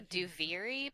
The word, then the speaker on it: Duviri: I don't know how to pronounce that. Daivari, the wrestler. Yes, the wrestler. That's what Denari. The wrestler. The Duviri paradox.